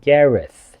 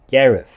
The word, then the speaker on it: Gareth: 當然，如果你真係讀到 Gareth 就係非常之好。咁如果你唔得嘅話咧，喺香港其實你將佢讀成一個 F 音都死唔去嘅 Gareth。咁我覺得可以接受。